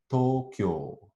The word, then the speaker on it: Tokyo: And this o, u sequence is written twice in the word Tokyo, where it's heard as a long o sound.